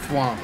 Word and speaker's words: Thwomp: Thwomp, okay. Leave it to me to get our name wrong.